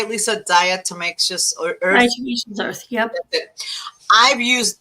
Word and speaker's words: diatomaceous earth: Diatomaceous earth.